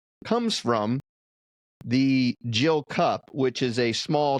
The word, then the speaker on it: gill: It's actually spelled G I L L, but pronounced a gill.